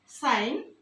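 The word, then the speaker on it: sign: এরপরে সাইন সাইন এখানে জিটাকে উচ্চারণ করা হচ্ছে না বলা হচ্ছে সাইন এখানে আবার ইন্ডিকেশন ইন্ডিকেশন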